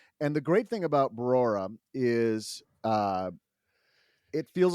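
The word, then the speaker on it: Brora: You added a syllable. I think it's just, you said it right the first time. Barora, not Barora, but Barora.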